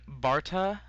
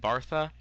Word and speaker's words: Bartha: pronounce that as Allen Justin Barta I don't know Justin bartha that's it I think as Doug